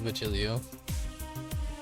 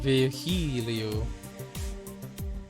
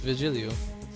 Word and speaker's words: Virgilio: You look winded, Virgilio. It's pronounced Vigilio. Vigilio? Okay then, that's not what I'm saying. No, I'm pretty sure it's Vigilio.